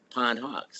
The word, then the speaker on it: Pondhawks: the beginning just because the word you know pondhawk together may not have you know made any sense in and people were mispronouncing it so we separated them and then it was easy for them to remember right pond and hawks and hawks I like